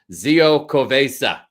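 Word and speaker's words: Xocoveza: That's pronounced Z-O. Zio Covesa.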